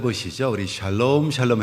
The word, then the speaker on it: 샬롬: 그래서 인사할 때도 샬롬 그러지 마시고 그리고 샬롬이라는 말은 뒤에다가 강세를 좀 쳐야 돼요. 샬롬 이렇게 하는 것이 원래에 발음에 맞습니다.